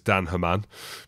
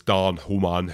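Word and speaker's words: Daan Human: correctly in Africans but it reads as Dan heran but I know it's Dan hman who's the front row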